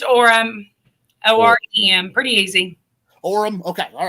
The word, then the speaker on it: Orem: do not say your name correctly it's auram o-r-e-m pretty easy orem okay all right i don't